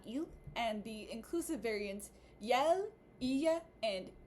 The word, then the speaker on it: iel: 6 or so months, I typically do hear the masculine pronoun pronounced as il and the inclusive variant pronounced as yel, or yel.